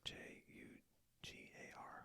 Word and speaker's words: jugar: And again, remember J is made with that H noise, so J-U-G-A-R, jugar, which means to play.